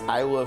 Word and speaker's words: Isla: Because if you think about like the word island, you know, like if we look at the map and we look at like some islands in the game, right? Like the the S is the S is silent, right?